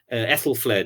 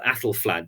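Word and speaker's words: Æthelflæd: And so people think, why isn't there more in your book about someone like Ethelfled or Athelflad, depending on how you pronounce it, Lady of the Mercians?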